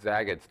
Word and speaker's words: Zagat: so well why did Zagats do so well um well Zagat first of all it it rhymes with the cat okay you can remember